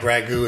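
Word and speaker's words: ragout: the mushroom sausage ragu it's spelt our AG o UT but it sounds like ragu is must be a French thing so first thing we're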